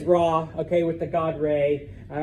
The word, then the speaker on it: Re: Some people pronounce it Ra, some people pronounce it Re. It depends on which teacher you have. I go with Re, okay?